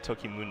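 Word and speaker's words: Tokimune: but it's salad right no it's Toki moon in that that E is actually pronounced so I already have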